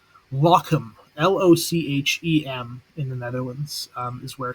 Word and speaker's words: Lochem: where he was killed, and make sure I pronounce it correctly. Lochem, Lochem, in the Netherlands is where he was killed.